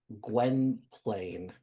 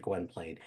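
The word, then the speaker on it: Gwynplaine: his kindness that he is able or that Gwen Plain, right? That's how you pronounce it. Gwenplane.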